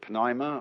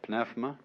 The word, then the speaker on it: pneuma: the greek word uh you may pronounce it pneuma or pneuma uh is the same